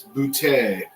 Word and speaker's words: Boutte: I'm like, I think I'd rather kept Butt, because I'd be like, no, it's Boutte. It's French.